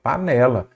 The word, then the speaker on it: panela: penúltima vamos lá pela qual que é a sía tônica panel panela ou panela panela então é a penúltima aí você já sabe